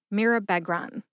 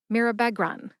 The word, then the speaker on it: mirabegron: a schwa A sound, Beg, like a dog begs for a treat, and Ron, like Harry Potter's buddy Ron Weasley in the Harry Potter series of books. I picked that example because I am a Harry Potter fan. Put that all together and you get Mirabegron. Emphasize mir and beg. Beg gets the most emphasis. See if you can hear that emphasis when I say it again.